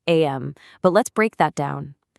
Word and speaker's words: Aim: It's pronounced am.